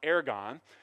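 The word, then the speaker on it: ἔργον: word works here used it's called it's it's pronounced aragon and the new testament was written in greek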